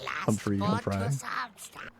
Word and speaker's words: Humfrey: Humfrey. With a PH. Humfrey. Yeah, it's spelled Humfrey like it's free. It doesn't cost anything.